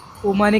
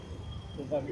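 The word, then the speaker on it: Umami: आज आम्ही आलेलो आहे उमाने कॅफे मध्ये नाही उमामी उमामी सॉरी उमामी लांबून स्पेलिंग दिसली नाही.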